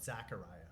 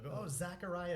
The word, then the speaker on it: Zecharia: Zechariah and call him Zachariah right they'll go it's it's a ze by the way zecharia sitchin I'm like you